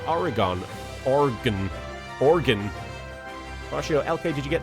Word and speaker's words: Oregon: The E in Oregon isn't pronounced. It's not. Where did I say Oregon?